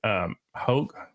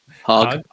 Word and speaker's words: Hogg: mentioned earlier, is David Hogg. I always get his Hogg. The second G is silent.